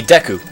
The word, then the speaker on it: Deku: See, the proper term would be Deku, but... Deku. Deku. Deku. They don't have long pronounced E's like that. They wouldn't say it like that in Japan.